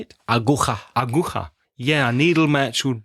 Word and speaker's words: aguja: Aguja.